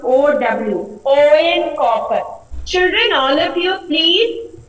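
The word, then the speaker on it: Eoin Colfer: But the pronunciation will be O N, O E N, O N copper. Okay, L will be silent here. It is about copper. C-O-F-E-R, L silent. Here he will pronounce O-W, O-N copper.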